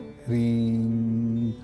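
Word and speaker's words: ह्रीं: आराम से ध्यान अवस्था में बैठ जाइए, और ध्यान अवस्था में बैठने के बाद HRIM इसका प्रोनाउंसिएशन है, लेकिन मौ पूरा नहीं बोलना है, आधा मौ बोलना है, रीम।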